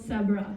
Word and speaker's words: Sebra: And here we're here today to tell you how we built See. See rhymes with zebra. if you uh if that helps you remember it.